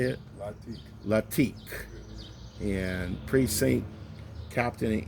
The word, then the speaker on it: Lateek: LATEEK. How you say it? LATEEK.